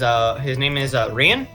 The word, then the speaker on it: Rian: Gaelic is fucked. Every region has different pronunciation. This is pronunciation I use. I'm not wrong, but I'm not wrong. It's just one that I use. The other ones people use is not wrong. I just call it Rian.